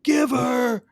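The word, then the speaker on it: giv'r: go all out and Giver is spelled g i v r I love it give her which one did you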